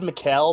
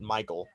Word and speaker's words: Mikael: the way apparently i always thought it was mikael but i was watching that video and he pronounces it michael the video of him